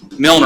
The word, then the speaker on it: Milner: reader a key example east Miller Avenue and say it wrong every time Milner Avenue Milner Avenue are